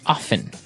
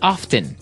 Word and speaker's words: often: Now, with pronunciation, some people like to pronounce often, right? They kind of leave out the strong T sound, while other people say often.